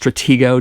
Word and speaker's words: Stratego: um i definitely dig stratego yes it is pronounced stratego just like the 60s 70s board game of the same name also darkest hour um